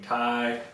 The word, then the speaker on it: Ti: the 1080 sitting on a tie, therefore being Ti, ha.